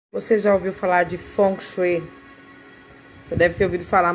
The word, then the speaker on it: Feng Shui: já ouviu falar de funk você deve ter ouvido falar mas você deve ter ouvido desta forma Feng Shui né mas se pronuncia funk é uma técnica milenar